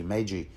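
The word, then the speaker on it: maegi: I will pronounce it same title as you know the three wise Kings so yeah there seems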